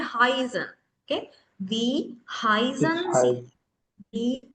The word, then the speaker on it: heißen: I කියන එක දැක්කහම I mine mine මෙතනත් එහෙමයි. Heißen නෙමෙයි Heißen.